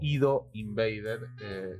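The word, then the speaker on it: ID:INVADED: La próxima serie de este tier, y la última, es ID Invaded o Ido Invaded, según su pronunciación correcta.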